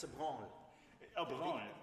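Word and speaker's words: Bransle: Oh, Bronne. The S is silent. It's one of the. It's from Old French.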